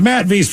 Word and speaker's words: Matthew: Today's my youngest son, Matthew, pronounced Matt V's 15th birthday.